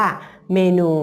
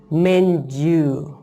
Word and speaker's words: menu: คำ แรก นะ คะ คำ แรก ออก เสียง ว่า นะ Men Men Men หน้า อ้า หา คำ ที่ 2 ออก เสียง ว่า ยู ยู รวม กัน เป็น เมนส์ you Men U หา ยก ตัว อย่าง